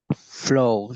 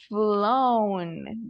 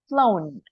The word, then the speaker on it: flown: Flow, teacher. Very good. Flown. Great job, Rene. So, just don't forget the pronunciation. Don't forget the N. Flown. Flown.